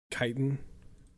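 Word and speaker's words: chitin: people all right um is it pronounced kiten or chitan my friend's rib on me for for pronouncing it kiten and now I don't know anymore uh having studied biology I am pretty confident it's kitan but let me kiten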